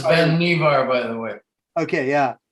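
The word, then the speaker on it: Vannevar: this is um the life magazine um article by vanderbar bush that it's pronounced ben nevar by the way okay yeah and i think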